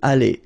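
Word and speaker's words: allées: And guess what? You don't pronounce it. Okay? So phonetically it's aller, aller, aller, and aller.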